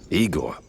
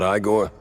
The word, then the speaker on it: Igor: Igor? Not Igore? No, I so many Rs.